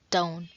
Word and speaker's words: don't: mistakes and in pronunciation the t of don't is silent so it'd be like don't and the sentence will